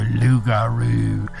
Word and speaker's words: loup-garou: The creature of the rougarou or loup-garou. I've seen it and heard it pronounced as both so far.